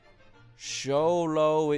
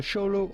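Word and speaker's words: Xoloitzcuintli: how to pronounce show The X at the beginning is to be pronounced like CH show LS quintly Quint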